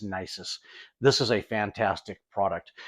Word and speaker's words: Nisus: d by Nexus nysis I always say their name wrong I think it's nysis this is a fantastic